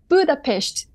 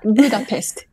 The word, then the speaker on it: Budapest: beginning and he said please pronounce Budapest not Budapest and I apologize him of